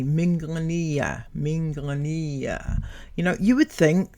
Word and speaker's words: Minglanilla: Speaking of loving a place so much, pronounce it correctly. Minglanilla.